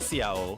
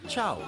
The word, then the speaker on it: ciao: Oh, and it's not Ciao, it's pronounced Chow. Wait, it's Chow?